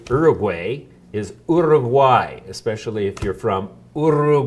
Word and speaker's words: Uruguay: the correct way to say far away is order of why especially if you're from Orem why can you